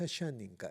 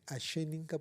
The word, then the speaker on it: asheninka: Lo he pronunciado bien, no es ashaninka, es ashenénka porque el pueblo asheninka es próximo, pero es distinto al pueblo asaninka y tienen costumbres distintas y hasta no es el mismo lenguaje.